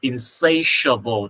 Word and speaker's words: insatiable: of, I have an insatiable desire for. Insane là âm sờ nhẹ ha, sable là âm sờ nặng. I have an insatiable desire for.